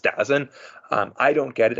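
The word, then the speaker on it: DAZN: televised it with uh D AZN I think it's pronounced dozen um I don't get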